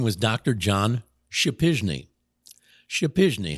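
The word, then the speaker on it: Przypyszny: John Shapizny. Shapizny. How do you spell that? P-R-Z-Y-P-Y-S-Z-N-Y. I've remembered how to spell his name all these years. P-R-Z-Y-P-Y-S-Z-N-Y. It's pronounced Shapizny.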